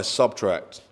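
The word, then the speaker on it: SBTRKT: artist brand um wow that's a tune by subtract which is spelt s b t k so sbt k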